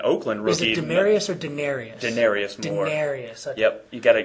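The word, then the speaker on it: Denarius Moore: rookie in in Oakland rookie demarius or daeni Denarius more Denarius yep you got to got to pronounce correctly U but no this is another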